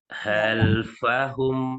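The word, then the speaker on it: خلفهم: Jika khalfahum dibaca tipis, maka kha dibaca tebal, kho, seperti itu.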